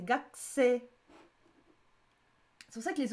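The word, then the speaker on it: 学生: Il n'y a pas marqué Gakusei pour une faute, c'est que ça se prononce Gakusei. On dit pas le U, c'est pas Gakusei. Gakusei en plus. C'est Gakusei.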